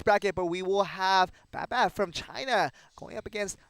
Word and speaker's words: BABBAB: BABBAB.